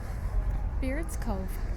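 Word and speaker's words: Baird: This is Beard's Cove. Oh, is that what it is? Beard's Cove. Yep. Spell it. B-A-I-R-D. So why'd you call it beard, like on a man's face?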